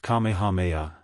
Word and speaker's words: Kamehameha: When Kamehameha, pronounced Kamehameha, the Great, who was a sort of a